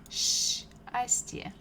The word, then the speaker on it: счастье: Ch together, they make sound sh, sh, like bukva sha, sh. So let's try to read these words together. First one is счастье, счастье, счастье means happiness, счастье.